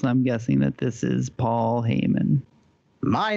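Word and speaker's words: Paul Heyman: guessing that this is Paul hayon my name is Paul Haymon yes Paul Haymon is correct he is not afraid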